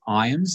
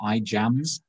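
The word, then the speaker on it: Ijams: but the name is irons it reminds me of rhymes with times he's got a silent j so it's not i jams that's kind of an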